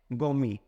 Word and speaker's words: gourmet: तो इसके लिए एक वर्ड हो वो क्या है, गौमी। क्या बोलेंगे, गौमी, GOURMET। देखिए इसमें टी साइलेंट रहेगा, तो इसके लिए क्या बोलेंगे, गौमी।